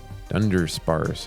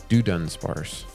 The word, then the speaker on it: Dunsparce: I think the first time I pulled that card, I pronounced it Turdinator. Dundersparse, that's a cool card. Dunsparce.